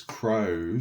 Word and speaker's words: crow: Why is crow spelt with what is essentially a silent W? Because if we just get rid of that, we're just still crow, and if we have the W, it is still crow.